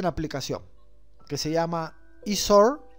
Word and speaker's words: iSword: Y ya van a ver ustedes en la aplicación, que se llama Isor o Isword, así se pronuncia, ¿no? Isor.